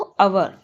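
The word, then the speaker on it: hour: भी नहीं पढ़ा पढ़ाता कैसे प्रोनाउंस किया जाता हाई ह को अवर एच नहीं होता एच नहीं पढ़ा जाता वह साइलेंट रहता है तो सिर्फ क्या पढ़ा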